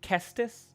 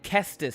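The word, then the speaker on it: Caestus: Is it the Cestus or the Cestus? I think Kestus because the hard consonant of the C fits better for punching I think.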